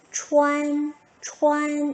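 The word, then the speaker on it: 穿: 추안, 추안 이렇게 되겠네요.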